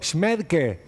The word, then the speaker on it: Schmaedke: Facundo Araceli cómo están Bueno no sé si pronuncié bien tu apellido smel que sería bueno Perfecto perfecto este Ariel queriendo hacer